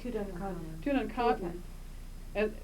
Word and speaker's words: Tutankhamun: And by the way, how do you pronounce it correctly? Tutankhamun.